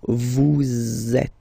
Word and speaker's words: vous êtes: So in that case, vous is ending with S, and then you tend to make a little link between them. So vous êtes. Z, it goes like that.